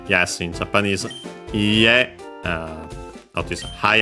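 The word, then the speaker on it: いいえ: Iie. Uh notice a high accent on the ha. Iie.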